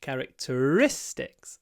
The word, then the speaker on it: characteristics: talk about character here it's characteristics so the stress is on the characteristics the fourth syllable what are the main